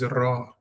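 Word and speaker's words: רע: For example, the word for evil is ra. The tongue must vibrate. The word. So your tongue has to be rounded off and it must vibrate.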